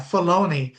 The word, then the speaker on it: Filoni: And it was mentioned that she's talked with Dave Filoni, is that Yeah, how Filoni. they Yeah. pronounce it? Yeah, Filoni, about bringing Mace Windu back.